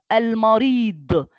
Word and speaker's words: المريض: And last, al-marid. It's dad. It's dot. It looks like sod, but with one dot up.